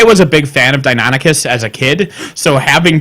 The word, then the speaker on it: Deinonychus: I was a big fan of Deinonychus as a kid, so having Deinonychus in a film and just calling them something else was... Deinonychus?